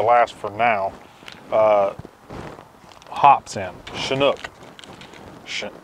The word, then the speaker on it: Chinook: four now hops in Chinook I guess that's how you pronounce it it's almost like this Chinook helicopter CH I in oh